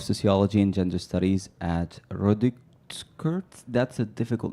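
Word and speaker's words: Rutgers: She's an associate professor of sociology and gender studies at Rodikert. That's a difficult name. How do you say that again? Ratkurtz.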